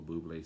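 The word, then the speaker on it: Bublé: a buble as michael buble says uh he i don't think he has anything to do with the drink it's just it just kind of rhymes with his name so he does the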